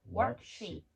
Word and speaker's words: worksheet: worksheet에서 이 이는 장모음 입술의 모양을 옆으로 길게 늘리면서 발음합니다. worksheet, worksheet, bedsheet, sit. bedsheet, sit.